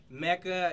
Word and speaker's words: Meka: And it's Meka. It's spelled M-E-K-A, but it's Meka.